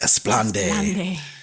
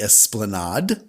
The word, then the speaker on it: esplanade: opportunities near the esplanade or as karen says esplande which is a funny story i've known multiple people to think that the esplanade esplanade is pronounced esplande so if you're one of those people you're wrong so far the two